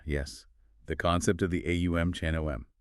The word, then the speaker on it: Aum: of consciousness with the phonetic sounds of AUM. It's broken into three distinct syllables. Okay. The A sound, starting deep in the throat, represents the waking state. The U sound, rolling forward through the mouth, is the dreaming state.